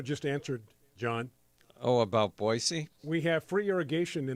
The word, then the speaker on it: Boise: Yeah, Boise is the correct pronunciation.